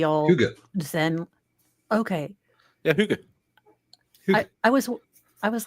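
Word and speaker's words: hygge: Huga. I was I was like huggy.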